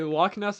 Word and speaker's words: Loch Ness: It's like creatures that may or may not exist like Bigfoot, the log nest monster, stuff like that. No, you don't. Okay. Loch Ness monster.